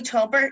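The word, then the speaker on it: tobar: bali as we know is town off and tubber as well well so like a whale that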